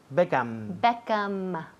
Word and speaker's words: Beckham: Beckham. Todo el mundo aquí dice Beckham con la boca abierta. Sí. Beckham, pues cierra.